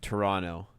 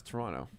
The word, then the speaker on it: Toronto: Oh God, it makes me like cringe when I hear someone pronounce the second T of Toronto.